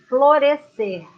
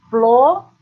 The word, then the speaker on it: florescer: Outro verbo, florescer. Florescer. 3 sílabas. Florescer. Lembrando que, quando você pronuncia este verbo, é como se fosse apenas um som.